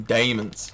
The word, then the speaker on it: daemons: Some daemons. The way it's spelled in this game is D-A-E-M-O-N-S. You gotta pronounce it all British, like diamonds. I love it.